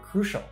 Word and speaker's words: crucial: I was told yes the first sound is crew similar to cruel that you sound is created by combining the crew sound with the long u